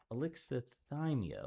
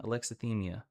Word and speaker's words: Alexithymia: Can I get a pronunciation one time? Alexithymia. Alexithymia.